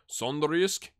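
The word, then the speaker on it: Sønderjyske: Keaton Parks, who is with Benfica and on loan at Sondrisk, of course, is how you say it.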